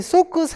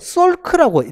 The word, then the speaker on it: Salk: 자, 3번에 보시면 이 소크 생물학 연구소 이 발음이 SALK인데요. 이거를 소크라고 발음을 하는 경우도 있고요. 솔크라고 리을 받침이 들어가 있는 경우도 있습니다. 이거 네이티브도 미국인들도 똑같이 반반씩 반응을 해요. 소크라고 발음하는 사람도 있고 솔크라고 발음하는 사람도 있고 그래서 소크 아니면 솔크 같은 건데요.